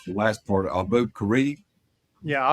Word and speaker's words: Abu Ghraib: But when I started reading his book, and help me, Bob, trying to pronounce the last part, Abu Ghraib. Yeah, Abu Ghraib.